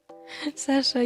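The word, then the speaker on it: Sacha: Hi, I'm Sasha. Yes. Actually, it's spelled with like s a c h a. Yeah, he's called sashai in French.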